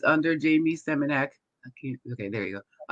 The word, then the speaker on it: Seminak: Seminak. Like it's semen. It's semen with an AK.